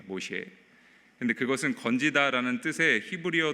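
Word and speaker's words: משה: 근데 여러분이 모세의 이름을요 히브리어로 정확하게 발음하면 모쉐입니다. 모쉐.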